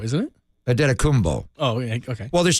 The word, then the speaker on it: Antetokounmpo: But then I call him Antetokounmpo because that's the Nigerian pronunciation. The Greek pronunciation is Giannis. I can't even say it. The second word's a P. Antetokounmpo, isn't it? Antetokounmpo.